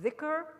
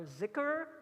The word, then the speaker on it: dhikr: So finally, we're going to talk about dhikr, or zikr in Indian pronunciation, the remembrance of God.